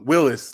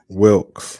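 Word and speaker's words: Wilks: You know, you got rid of, you know, Willis last year. Did I say his name right? Wilkes. Yeah. Wilkes. I'm sorry.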